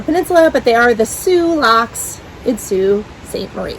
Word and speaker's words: Sioux: I don't know if that's the proper way to say it in French, but it is pronounced Sioux. That's the proper way in Michigan, apparently.